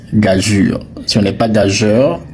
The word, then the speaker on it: gageure: Alors ce mot-là quand tu le vois, il se prononce gajur. Si on n'est pas gageur, si on n'est pas gagur, si on n'est pas gager, le mot se prononce gajur.